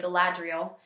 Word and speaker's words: Galadriel: the elf queen although most people say gadriel uh we say gadriel because I'm from Kentucky so um if anybody ever